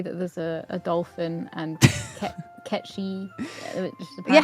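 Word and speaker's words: Cait Sith: Like apparently it was catchy up until a certain point where they changed it to Kate Sith.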